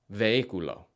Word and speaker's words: vehículo: So when looking at these words, try to avoid pronouncing the H. Vehículo.